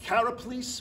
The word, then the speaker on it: Karaplis: How do you pronounce the last name? I want to get it. Karaplis. We're going to make sure that we get it exactly right. Karaplis, who's playing the very lovable, very flirty, yes, very outgoing, right?